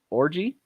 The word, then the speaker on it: Orji: The first is linebacker number 0, and Fernay Orji is how you say his last name.